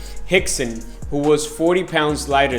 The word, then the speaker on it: Rickson: in Portuguese I think it's a language it's pronounced instead of Rex and Gracie Jaco willing once visited uh hixson's Gracie Academy or school and when he got